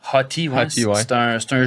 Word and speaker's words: Hotey: C'est le même que ça se prononce? Hottie, ouais.